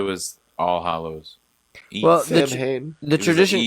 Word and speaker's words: Samhain: Well, Sam Hain.